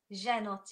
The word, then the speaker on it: Zhenotdel: Zhen, it's just Zhen. Like, yeah, it's the second part that gets me. It's the Zhenotdel.